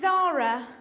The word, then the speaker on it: Zahra: my name my name is Zara you know like the shop but unlike the shop my name is felt said a HRA and that's because it's an Arabic name and my Arabic family